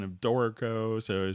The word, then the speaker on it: Dorico: So I just see someone's mentioning about the pronunciation of Dorico. So it says always pronounce it like Dorito, like the chips.